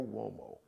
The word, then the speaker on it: Uomo: That's Mario Uomo. It's an Italian surname. So Mario, M-A-R-I-O. Uomo is spelled with a U. It's got the W sound, like the W-O, W sound, but it's U-O-M-O.